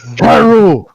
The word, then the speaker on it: Kairu: The name, Kairu, it rhymes with Saru, and you'll never see tomorrow.